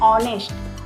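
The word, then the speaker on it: honest: ऑनेस्ट तो हम पढ़ते हैं लेकिन इसका हिंदी उच्चारण कैसे करते हैं ऑनेस्ट ऑनेस्ट मतलब इसका आने हिंदी में आता है तो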